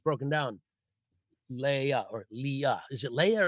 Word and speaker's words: Leah: but as we began our show, I said, "Leah, how do you say Leah?" Because some people may say Leah, and she said it's Leah.